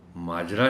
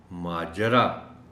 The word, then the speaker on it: ماجرا: ماجرا، اس میں بھی جیم کے اوپر زبر کا خیال رکھا جانا چاہیے، اس لیے کہ عام طور پر اس لفظ کو بولا جاتا ہے جیم پر جزم کے ساتھ. ماجرا کیا ہے؟ ماجرا نہیں، ماجرا. شکر، یہ لفظ محترم ٹیچر